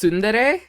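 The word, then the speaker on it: tsundere: Like I know that is pronounced Sundere, but I'm just going to call it Sunundre because I think it's funny.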